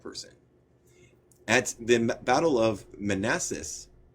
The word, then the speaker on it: Manassas: At the Battle of Manassas, did I get that right? Manassas? Are you Sorry. there? Yeah, you certainly did get that one right.